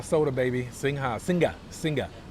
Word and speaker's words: Singha: Singha soda, baby. Singha. Singa. Singa. I was saying it wrong all these years. I always say singha, but it's actually singa.